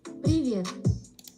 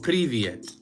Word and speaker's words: привет: Privé or privet? Is that how you say it? Привет. Привет. Oh, privyet.